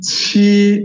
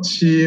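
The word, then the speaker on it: 七: Okay, 老师 nak ingatkan anda semua, ini Q tak boleh pronounce sebagai ki, ya. Yeah? Ini kalau dalam bahasa Melayu adalah pronounce sebagai ke, kan? Macam Quran punya ke. Tapi ini jangan pronounce sebagai ke. Ini adalah chi, chi, ikut.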